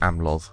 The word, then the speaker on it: Amlodd: Ethel Clan and the amlo clan yeah it is pronounced amlo since the elves are kind of based on Welsh so here we go